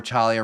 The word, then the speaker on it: Talia: Hey Frankie, like I had said it before, Talia rhymes with trauma in previous episodes.